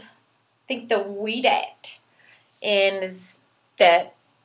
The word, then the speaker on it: Ouidad: is called I think the weed at and that o u i d a d and I think it's pronounced like we dad or something like that I thought it was